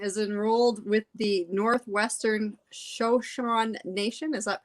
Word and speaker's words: Shoshone: all right jaclyn is enrolled with the northwestern shoshone nation is that pronounced right shoshon shoshone joshua thank you and lives in vancouver washington